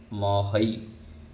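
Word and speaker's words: महै: ह के ऊपर दो मात्रा है इसलिए ऐ बोलेंगे, वहई, महई।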